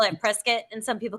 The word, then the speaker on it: Prescott: It's like some people call it prescuit and some people call it prescott and that's how you can tell if you're from here or not. Isn't it Isn't the biscuit pronunciation correct?